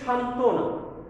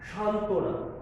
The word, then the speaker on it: সান্ত্বনা: যুক্ত ব্যঞ্জনের সঙ্গে ব ফলা অনুচ্চারিত মানে ব এর উচ্চারণ হবে না।